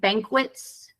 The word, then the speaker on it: banquets: uh repeat after me Banquets bits there you go yeah I think um in English whenever you have a Q and A U it always sounds like QA um I think that's